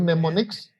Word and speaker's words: mnemonics: yaitu mnemonics, M-N-E-M-O-N-I-C-S. MNEMONICS. It's a strange word in English. You don't pronounce the Ini M.